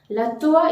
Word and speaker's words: toit: La toit is a roof. And the T is completely omitted as it is a final consonant letter in French. The final consonant letter is hardly to be pronounced.